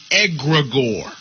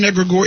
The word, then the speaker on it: egregore: There's a thing called an egregore. Now, most of our folk have no idea what an egregore is. It's spelled E-G-R-E-G-O-R-E.